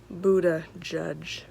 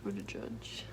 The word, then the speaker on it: Buttigieg: Buttigieg. Buttigieg.